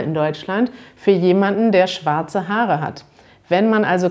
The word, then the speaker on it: Schwarz: man in deutschland ist in bayern und anderen südlichen regionen da betont man dass er ein bisschen stärker da hat man vielleicht sowas wie schwarz oder vielleicht auch im rheinland in der gegend von köln betont man dieses er sehr stark in anderen regionen hört man das vielleicht kaum da hat man so etwas wie schwarz schwarz also neben langes a